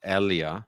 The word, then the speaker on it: Elia: done before, because Elia, it's Elia. pronounced Elia. Sorry, I will get that today. That's the German pronunciation.